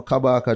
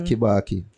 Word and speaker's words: Kabaka: guy everything IG you know you don't know kabaka just spell it right it's not kibaki yeah wow definitely wow all right people get